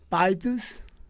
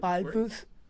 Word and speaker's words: Pythius: Well, myself, I was telling Nova Glitch just that I would pronounce it like Pythius. Yeah, that Pythius.